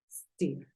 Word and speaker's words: steer: Y como la pronuncias, en este caso es steer. Steer. No es steer, porque el sonido en inglés aparece desde la S.